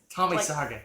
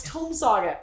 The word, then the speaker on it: Tome Saga: Tommy Saga. Darn it. No, it's Tome Saga.